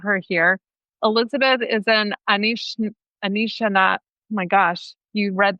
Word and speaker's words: Anishinaabe: It's Anishinaabe. Anishinaabe.